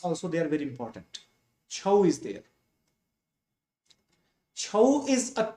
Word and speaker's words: Chhau: Chhau is actually Chhau. Chhau or Chhaya. That means shadow. So basically it is pronounced as Chhau, but it's originated from Chhaya.